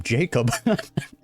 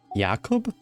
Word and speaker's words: Yakob: Is that how you pronounce his name? I've been calling him Jacob. Yakob. Yeah, I've been butchering that. Apologies.